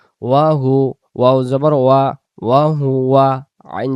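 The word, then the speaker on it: وَهُوَ: এই শব্দটা যেন ওয়াহু আ না আসে, উচ্চারণ হবে ওয়াও জবর ওয়া, ওয়া হু ওয়া, ওয়া হু ওয়া।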